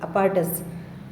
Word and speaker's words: apparatus: कोई उपकरण, equipment, अपार्टस, इसको ऐसे बोलेंगे अपार्टस।